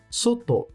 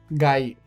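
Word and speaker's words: 外: sílabas do katakana, a sílaba ta e a sílaba to. Por isso, cuidado para não se confundir. A sua primeira leitura é soto. Soto, usado apenas na palavra fora, que é soto mesmo. Já a segunda leitura, gai.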